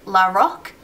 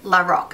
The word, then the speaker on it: Lorac: to say it as lck so basically switch the O and the a around when you pronounce it I tried the pro